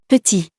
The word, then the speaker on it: petit: I personally consider that it's more elegant to pronounce the E like in the word Petit.